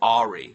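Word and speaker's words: awry: know where things went arai and again as as my former Governor would say Jesse Ventura he pronounced it AI you know where things went Ai and it seems like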